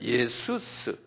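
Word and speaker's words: Ιησοῦς: 이거 똑같이 똑같이 썼는데 예수스 이렇게 한번 발음해 보세요.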